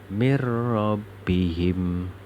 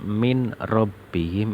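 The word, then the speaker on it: مِنْ رَبِّهِمْ: Mir rabbihim. Bacanya harus seperti itu. Jadi tidak boleh dibaca min rabbihim, itu tidak boleh. Harus dibaca mir rabbihim.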